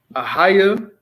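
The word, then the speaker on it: אהיה: Ahaya is how you say, first person, and it's future tense.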